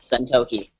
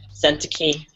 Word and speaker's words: Sentoki: Like, it's it's said exactly the way it's spelled, Sentoki. But like, people give me some like weirdass pronunciations, though. Like I've gotten like I've gotten sent a key or I usually sometimes I get sent.